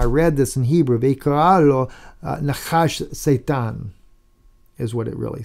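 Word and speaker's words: נחש: But clearly, right here, Nun Chet is Nachash. That's for serpent. They put a U vowel in there, right there, underneath the Chet, so that you would think it's pronounced Nehu rather than Nachash.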